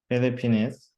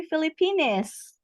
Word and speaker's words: Philippines: And lastly, for the pronunciation, just one word. How do we say that, Mr. Zhang? Philippines. Okay, Philippines. Philippines. Okay. Yes, because it's really funny when we say Filipinas.